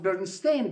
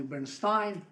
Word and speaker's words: Bernstein: 1930s 1940s by Bernstein I pronounced berstein because in such way it was pronounced in in Russia uh in America often in Germany Bernstein or Bernstein Bernstein okay uh cartri Marson kich